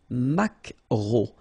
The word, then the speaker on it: maquereau: So technically this K, just pronounce it K, mac, maquereau, maquereau. Alright? And then E-A-U, remember when you combine these three vowels, you get the sound O, maquereau.